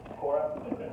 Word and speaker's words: Quora: Just like that. Quora. Say like core, right? Think quorum, right?